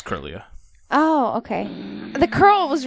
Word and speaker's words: Kirlia: I always pronounced it wrong, too, because I always wanted to put an extra I in there somewhere, but it's not there.